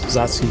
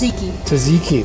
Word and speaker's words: tzatziki: that I can't pronounce, Zatsuki sauce, I guess. Tzatziki, there you go.